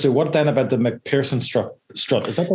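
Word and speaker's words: MacPherson: So that takes us to what then about the McPherson strut? Is that the right way to pronounce it? McPherson, actually, yeah.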